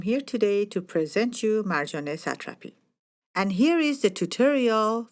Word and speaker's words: Marjane Satrapi: Hello, my name is Soodie Sarooie and I'm here today to present you Marjane Satrapi. And here is the tutorial for the pronunciation of her name.